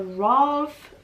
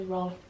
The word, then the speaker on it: Rolf: I think I said Victor Rolf, like Ralph, the way that it's spelled here, but it's Victor Rolf Flower Bomb.